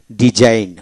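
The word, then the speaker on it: design: এখন আসেন জি সাইলেন্ট, যেমন ডিজাইন, ডি এস আই এন ডিজাইন, জি উচ্চারিত হবে না, ডিজাইন।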